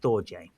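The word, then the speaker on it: storge: So the next uh one number three is stoj and it's spelled s t o r g e but it's pronounced stoj. So uh stoj or familial love is a kind of failure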